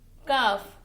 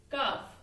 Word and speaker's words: calf: L is silent here. Alright. So L is silent. Calf.